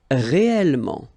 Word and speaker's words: réellement: Okay, so remember when you've got this here and then it's followed by two consonants and then they are the same consonant like here, the sound of the changes and it's open, it's a. So that's the reason why you've got this réel. Okay, réellement. All right, then manuel, manuel, manuellement.